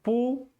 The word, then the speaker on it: público: Eu tenho público. Público. Então, ela está sendo acentuada na antepenúltima, né?